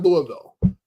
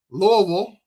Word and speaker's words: Louisville: Kentucky at Louisville.